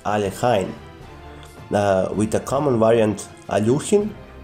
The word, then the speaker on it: Alekhine: word about the name the russian election is pronounced alekhine with a common variant aluchin himself did not